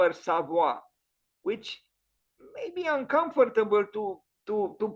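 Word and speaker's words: Savoye: The correct pronunciation is Villa Savoy with a, so it is Savoy, not Savoie, Savoy. There is a touch of I at the end.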